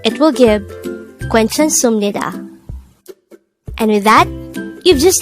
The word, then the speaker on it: 괜찮습니다: of the sounds but although it's its spelling gives up the supnida sound in korea this is pronounced as sumnida so if we combine